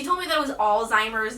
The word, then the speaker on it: Alzheimer's: The first lesson that I learned is that Alzheimer's is pronounced Alzheimer's, not old timer.